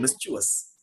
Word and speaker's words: mischievous: Like when we feel that the student has been mischievous. Now, understand this, the pronunciation of this word is mischievous. It is not mischievous.